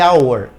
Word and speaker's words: hour: así por qué porque esta H que está aquí es silenciosa esta H es decir no se pronuncia OK Por lo tanto